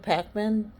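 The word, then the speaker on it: Pakman: off about the election results um but David Pacman which is the last name is spelled p a k m a an was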